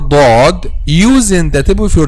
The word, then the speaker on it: ض: Okay, so when you pronounce letter dod using the tip of your tongue with raise